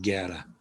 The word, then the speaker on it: guerra: a u a a a u following the g simply hardens the g so means war and it's a g sound guerra that's where we get